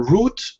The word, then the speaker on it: route: has a very large paper route or paper route I believe the Americans say rout okay very good thank